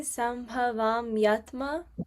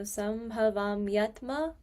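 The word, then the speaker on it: सम्भवाम्यात्म: It would be sambhavamyatma, like the word would be together. So sambhavamyatma mayaya.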